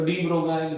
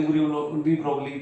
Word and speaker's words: de Broglie: तो डीबोगाइल वेवलेंथ या डी डीबोगली wavelength इसको दोनों मतलब प्रोनाउंसिएशन थोड़ा सा वेरी हो जाता है। कोईकोई डीब्रोगलाइ बोलता है डीबोगली वेवलेंथ बोलते हैं।